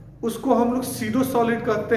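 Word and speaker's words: pseudo: अब फॉल्स को आप सीडो सॉलिड भी बोल सकते हैं, फॉल्स कहिए या सीडो कहिए, इनमें पी साइलेंट रहता है।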